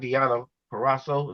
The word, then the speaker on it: Deanna Purrazzo: Yeah, Ember Moon, because I think I like Deanna Purrazzo is how you say her name.